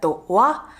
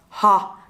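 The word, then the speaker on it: は: studied some Japanese before You may notice that this syllable is actually "ha" if you read it by itself But when this syllable is a subject particle it's read as "wa" So this is an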